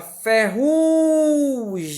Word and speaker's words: ferrugem: Eu tenho aqui a sílaba ferrugem, ó. Não é acentuada, mas o ru eu falo mais forte.